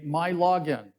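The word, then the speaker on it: MiLogin: website you create a my login in Michigan every everything starts with Mi so it's pronounced my so it's your login uh you access the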